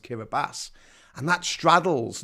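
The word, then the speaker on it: Kiribati: the Pacific Ocean it's spelled kabati but it's pronounced kabas and that straddles not just the Northern Hemisphere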